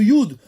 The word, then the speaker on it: י: et de la lettre Yud, donc le Yud, il représente aussi tout ce qui s'appelle, la prononciation de la lettre Yud, c'est comme Yad.